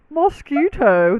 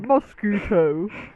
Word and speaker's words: mosquito: hate you both that I think you did pronounce the vowel different you might say mosquito we we did see yeah it sounds like mosque and then keto yeah so you made